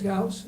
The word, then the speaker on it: Ghouse: Mark Ghouse, I think it is, Ghouse. I think I said Mouse, yeah, it rhymes with mouse, he said.